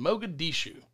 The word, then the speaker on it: Mogadishu: right there and it broke out is in mogadishu did i pronounce that right yes that was perfect i'm